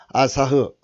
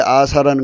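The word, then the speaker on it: עָשָׂה: 음역으로 아사흐 아사인데 히자를 붙이면 아사 이런 글자가 없죠. 그래서 아사흐 이제 모음을 붙여서 부릅니다. 아사흐 발음은 아사입니다. 아사.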